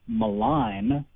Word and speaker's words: malign: comes from a word malign which sounds quite different and which has a silent g in it but we hear that